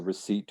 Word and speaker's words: receipt: receipt after you buy something you'll get the receipt for what you purchased and why is there